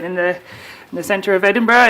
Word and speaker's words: Edinburgh: We pronounce it Edinburgh, right? It's not Edinburgh or Edinburgh.